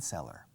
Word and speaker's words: cellar: vino, por ejemplo, wine cellar. A wine cellar es una bodega subterránea. It's a wine cellar. Suena a vendedor, cellar, ¿no? Pero es cellar con C, pero se pronuncia igual que vendedor.